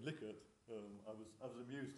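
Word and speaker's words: Likert: the US you find that people would say like it that's well we say Li it they say like it I think there's some evidence that liquor is the is the right way of pronouncing the word from the from the family so those Americans here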